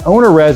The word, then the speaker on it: OwnerRez: And OwnerRez is spelled owner, like it sounds, and then at the end of it, R-E-Z, and it's short for owner reservations.